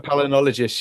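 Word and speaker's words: palynologist: And these are the guys that are called if I'm pronouncing it right palo palnol palologists. Yeah, that's right. palinologist.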